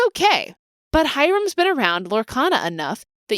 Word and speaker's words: Hiram: And we're not asking for you to go Hiram or anything like that. We're just looking for you to pronounce it as Hiram. His name. His name is not Haram. His name is not Hiram. His name is Hiram.